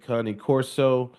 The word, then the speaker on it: Cane Corso: My website is NWA Cah-nee Corso, and the Hmm. number. Another thing we was talking about the pronunciation of Cah-nee Oh yeah, Corso.